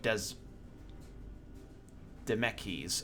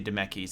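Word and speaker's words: Dzemekys: following the sins of Des meckies I'm gonna say demeki's I think the Z is Silent not wanting to further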